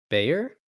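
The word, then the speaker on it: Bhuer: homunculus like combination uh is it Briar um it's b-h-u-e-r b h u e r Bayer oh good that's how it was in my head kind of gotcha I want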